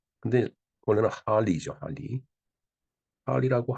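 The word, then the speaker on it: Harley: 근데 일본은 인제 하레이 데이비슨 또는 줄여서 하레이라고 부른다는데 참 일본 사람들은 참 답답해요. 이게 말이 그러니까 HAR이니까 하 그다음 LEY니까 하레이 이렇게 발음을 하는 것 같으네요. 네. 근데 원래는 할리죠, 할리.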